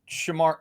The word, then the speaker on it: Shamar: I'm talking about Shamar. Are you talking about&m? Shamar. Yeah. Yes. Shamar. Not Shamir. Shamar.